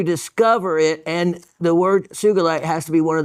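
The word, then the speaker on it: sugilite: you notice it is sugalite and sugalite is the proper pronunciation the whole industry still is stuck on the soft G Suite but Kenichi Sugi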